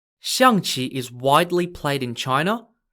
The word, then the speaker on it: Xiangqi: for this game is known as shangchi changchi is spelt x i a n g q i xiang chi is widely played in